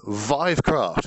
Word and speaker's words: Vivecraft: arranging myself this is vivecraft VI rhymes with five supposed to VI which is what I have been saying which is wrong uh I have run